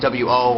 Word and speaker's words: を: preferring like for example there's a particle what is known as wo or woe but really they just pronounce it oh like ho so like